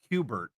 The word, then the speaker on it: Kubert: 2, if I know it's pronounced Kubert, pretty sure I know what his first name is.